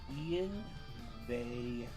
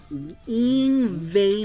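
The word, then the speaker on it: Yngwie: It's pronounced Ian Ve Malmsteen. It's pronounced Ingve Malmsteen.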